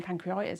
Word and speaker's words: pancreatitis: I've been saying pancreatitis, I've been saying it wrong.